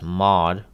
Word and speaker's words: mod: the modulus operator and we often just pronounce it as mod it yields the remainder